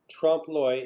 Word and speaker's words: trompe-l'oeil: Yeah, so this idea of trompe-l'oeil, it's spelled T-R-O-M-P.